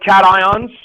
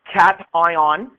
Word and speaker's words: cation: The reason it's pronounced cation is because it comes from the term cathode.